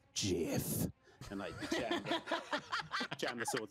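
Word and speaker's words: GIF: hippo and i say it's pronounced jiff can i jam the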